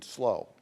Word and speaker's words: SLO: in San Francisco, 74 in SLO, as the locals say, for San Luis Obispo.